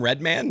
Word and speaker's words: Redman: I I love because there's Mike Redmond and Mark red man so that is we make the distinction we talk that way but I think he would say it's Redman I love his album